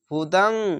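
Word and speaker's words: هُدًى: হাফেজ হু, দাল দো যাবার দাং, হুদাং, এটাই হুদাং অনিষ্কারের মতো, এই কালারটা দেখতে পাচ্ছেন, এটা হচ্ছে ইকফা গুন্না, অনিষ্কারের মতো উচ্চারণ হবে।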